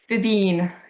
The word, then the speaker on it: Fíbín: I probably should have asked how to pronounce Fíbín Media. There's a little, how do you say that? Yeah, Fíbín. Yeah. Fíbín.